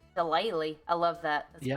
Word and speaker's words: shillelagh: It has a G in there, but I guess that's silent. Shillelagh. Shillelagh. I love that. That's Yeah, better. that's what it is. It's shillelagh.